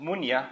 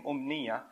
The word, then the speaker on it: أمنية: أُمْنِيَّة or originally pronounced munya, and then it became umniya.